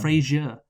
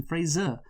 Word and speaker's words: Fraser: Brendan Fraser. Yes, implying the last syllable like the TV show.